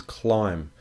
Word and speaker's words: climb: climb a tree the the spelling of climb is a little bit tricky it has a silent B at the end we can't hear the B the word is climb but the spelling is c l i m b now if you're going